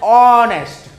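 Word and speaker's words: honest: क्यों नहीं होगा, कि जब हम इसको प्रोनाउंस करेंगे तो हम क्या बोल रहे हैं, ऑनेस्ट, हम ऑनेस्ट बोल रहे हैं, तो ऑनेस्ट हमने बोला तो ये अक्षर आ गया, यानी उच्चारण का पहला अक्षर हिंदी वर्णमाला के स्वर से आपको मिलता हुआ दिख गया।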